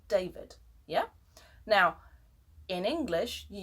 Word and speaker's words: David: Now, the Spanish D is a soft D. And for the soft D, listen to David in Spanish, or how a Spanish speaker would pronounce David in English without knowing the sound of the hard D would be David, yeah?